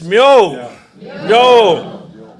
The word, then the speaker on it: myo: Everybody's heard a cat, meow, but it's myo, myo.